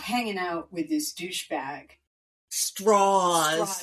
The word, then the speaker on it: Strauss: out with this douchebag, Straws. The Southern pronunciation to make him sound a little less Jewish.